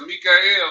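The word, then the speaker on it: מיכאל: And at that time shall Mikael stand up, that great prince which standeth for the children of thy people. That's how you say his name in Hebrew.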